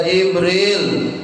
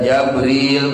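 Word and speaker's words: جبريل: Dia memusuhi malaikatnya Allah wa rusulihi dan kepada utusan-utusan Allah wa jibrilan dan kepada Jibril. Bikasil jimi bacanya dengan dikasrahkan jimnya wa fathiha dan difathahkan jimnya. Bisa Jibril bacanya, bisa Jabril bacanya.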